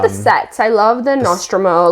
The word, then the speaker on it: Nostromo: I love the Nostromo.